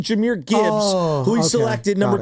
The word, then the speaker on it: Jahmyr: We thought he said A-chair, but it's actually Jahmyr Gibbs, who he selected number 3 overall.